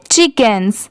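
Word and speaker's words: chickens: चिकेंस।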